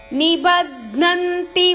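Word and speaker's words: ನಿಬಧ್ನಂತಿ: ಪ್ರಕೃತಿ ಸಂಭವಾಹ ನಿಬಜ್ಞಂತಿ ಮಹಾಬಾಹೋ ನಿಬದ್ನಂತಿ ಧ ನಿಬದ್ನಂತಿ ಮಹಾಬಾಹೋ ದೇಹೆ ದೇಹಿನಮವ್ಯಯಂ ಮವ್ಯಯಂ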